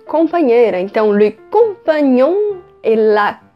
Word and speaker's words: compagnon: Lembrando que vai ter esse GN, que é um pouco parecido com o nosso NH, tem o som de nhe. Então, compagnon, compagne.